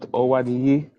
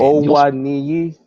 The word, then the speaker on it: Awoniyi: I'm the Nigerian here, and I'm telling you, you've got to say it with. It's the accent of how you say certain names.